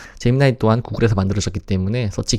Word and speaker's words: 제미나이: 그리고 재미나이 재미니 혹은 재미나이라고 읽기도 하는데요. 제미나이 또한 구글에서 만들어졌기 때문에